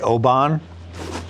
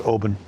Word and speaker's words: Oban: It's like Scotch when people say Oban. That's not how you pronounce it. It's Oban.